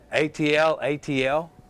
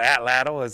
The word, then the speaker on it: atlatl: ATL. Yeah, because a lot of people say atl, but atlatl is how a lot of people pronounce it.